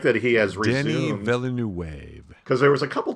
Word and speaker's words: Villeneuve: I do like that now Villanueva. I know I'm mispronouncing his name, and I apologize, We Denny.